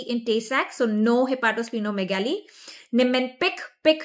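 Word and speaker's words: Niemann-Pick: Nimpic pick rhymes with big.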